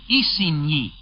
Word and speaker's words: Isigny: Cannes, by the way, is spelled C-A-E-N. It is near Isigny on your map, spelled I-S-I-G-N-Y.